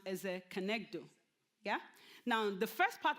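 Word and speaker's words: כנגדו: It's a two-word that is pronounced as a kenegdo.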